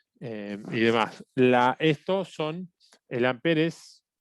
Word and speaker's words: ampere: corriente son amper está esto es amper se escribe ampere y se conoce como